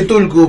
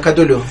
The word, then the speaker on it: Cthulhu: A veces se le dice Tulku, pero es Cthulhu.